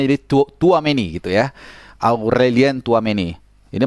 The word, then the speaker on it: Tchouaméni: Ya, bacanya jadi Tchouaméni gitu ya.